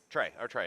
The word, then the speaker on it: Trey: Trey, not Terry, Trey. That's right, okay. I was like, Terry doesn't sound right because it's not spelled like Terry.